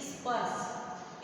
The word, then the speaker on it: स्पर्श: जैसे ये स्पर्श लिखा है तो इसके आगे हम अ का प्रयोग नहीं करेंगे, नहीं तो ये गलत हो जाएगा। ठीक है, ई जोड़ेंगे, ई, स्पर्श।